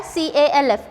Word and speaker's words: calf: C-A-L-F, calf. L is again silent.